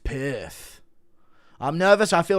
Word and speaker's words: Perth: You say perf like a guy with a lisp says piss. Perth. It's pronounced Perth.